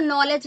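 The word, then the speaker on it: knowledge: होते हैं है ना जैसे नॉलेज लिखते हैं तो के साइलेंट है इसी तरह हम लोग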